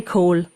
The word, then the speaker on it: Kohl: In Germany, we would say coal. What's the English pronunciation? Cole. It's not as fancy as that. It's more like coal.